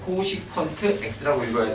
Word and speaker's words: 코시컨트: 예, 코시컨트 x라고 읽어야 돼요.